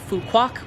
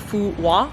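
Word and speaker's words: Phú Quốc: In fact, the name of the island, a lot of English speakers pronounce the island Phu Quoc because that is kind of how it's spelled from an English-speaking mindset, Q-U-O-C, we would say Quoc or something along those lines. But I did speak to a few Vietnamese people who taught me that the correct pronunciation is something along the lines of Phu Quoc, so that's what I've been trying to say.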